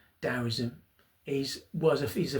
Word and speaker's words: Daoism: Um tism dowism it's actually pronounced dowoism is was a is a philosophy that comes from China.